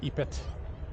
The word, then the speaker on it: Opet: The Min Festival would happen here, but the big one was the Opet Festival, or Opet, really probably like Opet would be more proper way of pronouncing it.